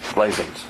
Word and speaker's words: Blasienz: My daughter always said rhymes with raisins.